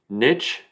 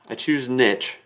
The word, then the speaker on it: niche: Okay, so Merriam-Webster does have an allowance for 3 different ways to pronounce this word. Niche, niche, or niche. Now, I choose niche. I'll let you get away with niche. But if you say niche, I might have to tease you about that one.